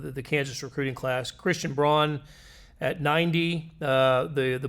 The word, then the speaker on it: Braun: Christian Braun It's actually pronounced Braun.